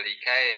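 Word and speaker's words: لكي: Nanti jadi likai, bukan kai tapi likai, ada lam di depannya.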